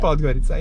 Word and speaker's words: Podgorica: this whole week, and we made it to Podgorica. Is that how you say it? Podgorica, yes, the capital.